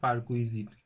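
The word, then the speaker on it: perquisite: ওকে, উচ্চারণটা হবে দ্য পারকুইজিট, দ্য পারকুইজিট মানে কি, দ্য পারকুইজিট মানে হচ্ছে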